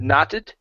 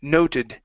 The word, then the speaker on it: noted: uh next we have the word uh noted right here instead of knotted this is no noted noted okay okay so this